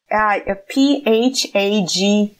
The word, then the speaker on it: phage: P-H-A-G-E-S. Once again, two letters. Phages. Yeah. Phages. It's almost like page, but with letter H after P.